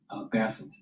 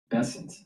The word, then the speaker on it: Bessent: So, let's uh let's go back to Basset. Bessent. it's pronounced in this weeks and we will continue as needed.